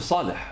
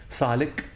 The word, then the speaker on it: صالح: بس السي اتش بالألماني أو بالهولندي وبالدنماركي بتتكتب سي اتش، بتتنطق خ. صالح، يوسف صالح، عشان ما بيقدرش يقول الح. فاحنا طبعا خدناها وترجمناها الانجليزي سي اتش بتتنطق بطريقتين، يا اما ك لان ما يقدروش بيقولوا الخ فبيقولوا عليها ك صالك، او بتتنطق صاليتش.